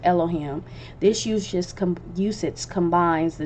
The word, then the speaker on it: Elohim: And in my study in Elohim, which is spelled like the 4-letter name, but punctuated and pronounced Elohim.